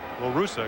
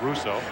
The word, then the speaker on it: La Russa: I want to talk to Canseco, to Ricky Henderson, Tony La Russa, and that's exactly the way La Russa, excuse me, not Russo.